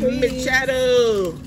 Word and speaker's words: Mechado: Mechado. Ribs Mechado. That's an easy name to pronounce, yeah. Sounds like macchiato.